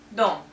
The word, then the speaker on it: дом: For example, мой дом, my house. Here we pronounce O. Why? Because it's stressed, and actually if it's one syllable, only one vowel in a word, we always say what we see, even without this sign.